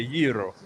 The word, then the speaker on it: gyro: It's just like gyro is a euro, so you say it like that.